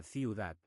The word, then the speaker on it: ciudad: Un truco rápido para ciudad. Piensa ciudad con la de suave al final no muy fuerte. Practica lento. Ciudad.